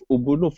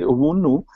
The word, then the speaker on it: Ubuntu: by the concept of Ubuntu philosophy. So in my country, we say Ubuntu, but for some part of the Africa, they say Ubuntu.